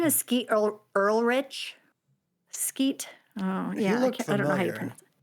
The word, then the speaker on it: Ulrich: But Skeet Ulrich, I think is how you say Skeet it.